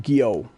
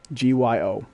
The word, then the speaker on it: Gyo: One called Tomi, one called Uzumaki, and one called, I think it's pronounced Gyo, Gyo.